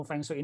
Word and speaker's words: Feng Shui: Nyebutin Feng Shui aja masih bingung, Feng Shui apa gimana cara bacanya gitu. Ternyata Feng Shui gitu ya cara bacanya.